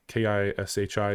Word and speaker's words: Kishi: Kishi is how you say it.